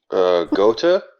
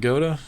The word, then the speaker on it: Gotha: Gotha? Is it Gotha? Yeah. Okay. I don't know, but if it's German, the TH is usually just T.